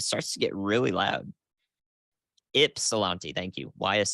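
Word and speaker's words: Ypsilanti: out there it starts to get really loud ipsilanti thank you why is silent Miami ipsilanti oh my God is what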